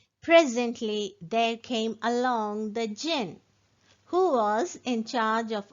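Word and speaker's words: djinn: So here you can see the word jinn. The spelling is D-J-I-N-N, but here D is silent.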